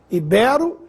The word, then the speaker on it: ibero: fosse proparoxitona habitat ibero ibero é assim que se pronuncia o nome dos antigos habitantes da Península Ibérica látex essa palavra deve